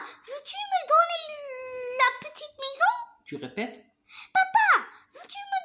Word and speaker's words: maison: Alors, qu'est-ce qu'il y a dans la maison de Didier? Dans la petite maison. Non, on ne dit pas maison. Alors, pourquoi ici S se prononce comme Z? Parce que deux voyelles.